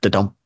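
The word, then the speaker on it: Dudum: Kind of like Dedham, like the Netflix thing. Yeah. It's the Netflix intro, right?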